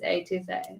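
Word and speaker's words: étouffée: I got the crawfish A2 Fay. Is it A2 Fay? It's A2 Fay.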